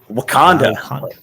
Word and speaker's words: Wakanda: How do you pronounce it? Wakanda Fest. Wakanda.